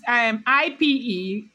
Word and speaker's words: Ipetu: It's Ipetu, like Ketu, then Ayegbagu, right?